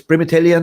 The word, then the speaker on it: Primitai: It's Primitai Man, right? Right pronounced?